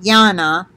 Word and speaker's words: Jana: Let's see, she pronounces it Jana. It's J-A-N-A.